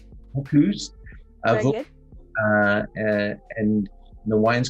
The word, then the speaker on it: Vaucluse: Am I pronouncing that correct? Vaucluse. Vaucluse.